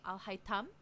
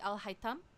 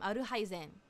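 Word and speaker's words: Alhaitham: The proper way would actually be Al-Haytham. Like, in like the culturally, in the culture for that he comes from, it should be Al-Haytham. But and also in Japanese, because they can't pronounce a lot of consonants, they call him Aruhaizen.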